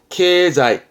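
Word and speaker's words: 経済: 발음은 케자이.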